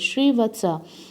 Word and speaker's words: Srivatsa: Now there lived at that time upon earth a man of the name of Sri Vatsa. I have actually detached this name in a two different syllables, Sri Vatsa.